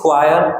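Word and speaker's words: choir: इसका प्रोनाउंसिएशन ध्यान रखेंगे, इट इज क्वायर, ठीक है।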